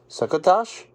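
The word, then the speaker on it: succotash: and sukos said St suckatash rhymes with bash sakash said Wall-E he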